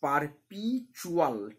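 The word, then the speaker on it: perpetual: Declaring, এটা উচ্চারণ হচ্ছে ডিক্লেয়ারিং, অ্যাবাউট দ্য পারপিচুয়াল, টি এর উচ্চারণ হবে না, এটা টি ইউ এ আছে তো চু হয়ে যাবে, টি ইউতে চু হয়ে যাবে, ঠিক আছে, দি টি ইউ এল, পারপিচুয়াল poetry of earth, যা পৃথিবীর চিরকালীন সঙ্গীতের কথা বলে।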